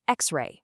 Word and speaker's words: x-ray: We say an x-ray because the letter x is pronounced x which starts with a vowel sound.